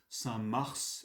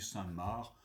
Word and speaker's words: Saint-Mars: Donc, certains prononcent ce nom Saint-Mars et d'autres Saint-Marc. Moi, je dis Saint-Marc, je ne sais pas très bien pourquoi moi-même. Bon.